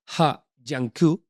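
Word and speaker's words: He Jiankui: Pues esto es en 2018, un científico chino llamado Ha Jiankui, y he dicho muy buena pronunciación. He leído en el Wall Street Journal que se pronuncia así, ¿vale?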